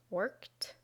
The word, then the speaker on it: worked: to make it past tense and then the pronunciation is worked worked worked you try next we have watch